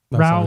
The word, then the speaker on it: Ra: am raoul tier heir rao like yeah they they pronounce it rao okay wow maybe the